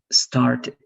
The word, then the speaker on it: started: You need to know when you're going to pronounce the ED like T, watched, washed, liked, traveled, fixed, and when you're going to pronounce that like ED, like wanted, started, right?